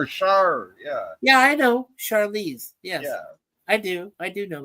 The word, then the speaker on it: Charlize: Why do you only call her Charlize Theron? Is Charlize because that is how it's pronounced. Charlize. It's not. I said Charlize. I said that. Yeah, well, it sounds like you're saying it like a hard CA.